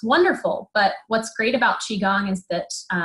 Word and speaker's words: Qigong: Qigong. Yes. Qigong. Like your qi, your energy.